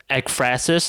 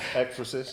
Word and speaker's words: ekphrasis: The ekphrasis, is that how it's pronounced? Yeah. Ekphrasis? Ekphrasis.